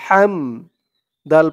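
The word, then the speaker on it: حمد: রব্বিলাকাল হাদি মিম জরবে হা মিম জবর হাম হাম এই হার আওয়াজটা গলার ভিতর থেকে চিকুন করে আনতে হবে হাম লাকাল হাম দাল পেশ দু হামদু লাকাল হামদু ইয়া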